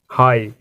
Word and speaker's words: high: जैसे एग्जाम्पल है हमारे पास HIGH, हाई। यहाँ जी एच क्या है?